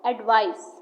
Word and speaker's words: advice: gave me a good advice. On the other hand, advice with an S is an action verb, meaning to give a suggestion. It has a Z sound.